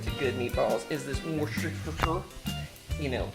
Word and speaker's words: Worcestershire: You know, they don't teach us how to say this in the South. It's a funky British word. So you can say it Worcestershire. You can say Worcestershire or Worcestershire sauce.